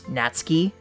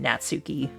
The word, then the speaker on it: Natsuki: because you're it's not you don't pronounce the U in a Japanese name like that misys you would pronounce